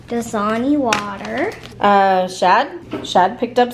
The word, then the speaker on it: Dasani: Dasani. Dasani water.